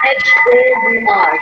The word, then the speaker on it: hour: Ma'am, how to pronounce H-O-U-R? There's a lot of echo. Okay, ma'am. 1 second. Ma'am, how to pronounce H-O-U-R? H-O-U-R, hour. Yes. Hour. H is silent.